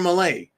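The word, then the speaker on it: Milei: the chainsaw Javier Malay I'm going to pronounce his name properly because I should start pronouncing it property Javier Malay he's got some big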